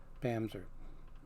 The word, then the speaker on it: Bamse: Pam's er spell be a MSE but it's pronounced Pam's err now I've known him for several years at